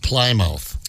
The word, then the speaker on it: Plymouth: Yeah, it's pronounced Plymouth.